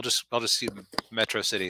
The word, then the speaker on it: Metro City: because it's a city's called Metro City or as Megamind keeps mispronouncing it atrocity which actually then I